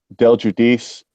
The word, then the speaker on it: Delguidice: now did I get that right what it's pronounced d jub Del judis but since I'm here on YouTube I have